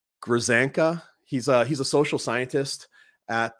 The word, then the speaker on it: Grzanka: You know, earlier in the documentary, Walsh interviews Patrick, and I'm going to mispronounce this name. It's Grzank. Grzanka.